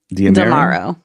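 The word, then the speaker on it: D'Amaro: Tomorrow. Tomorrow. Tomorrow. Okay. Tomorrow. Okay. And there's a story that comes to us from Star Wars that I'm going to read here. Uh, Disney names Josh tomorrow next chief executive officer succeeding Bob Iger.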